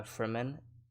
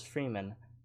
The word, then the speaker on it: Fremen: uh they're saying uh for men in the movie and i was pronouncing it as freeman because it's spelled f-r-e-m-e-n and the whole thing